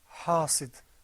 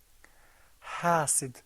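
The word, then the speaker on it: حاصد: Well, no, try to pull the corners of your mouth back. Hasid. Hasid, very good. Now, there's sometimes a tendency for people to say hasid like that, but that's not correct because the ha sound is not one of the letters of tafkhim.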